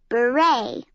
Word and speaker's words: beret: beret a cap you say it like this beret gallery a room in a museum landscape a